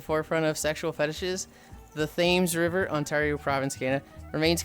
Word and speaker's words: Thames: Thames is pronounced Thames.